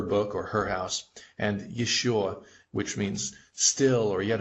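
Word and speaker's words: ещё: Here are the two most common words that have the yo in it. This is ее, meaning her, like this is her book or her house, and еще, which means still or yet another.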